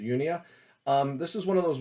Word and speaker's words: Unia: Anyways, the first one I'll show you is Sonata Arctica, Unia, or Unia. I pronounce it Unia.